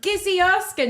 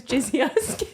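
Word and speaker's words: Gizzi Erskine: with Gizzy Erskine, who I always pronounce her name as Jizzy Erskine. Like, I honestly, if I read the name, I say Jizzy Erskine.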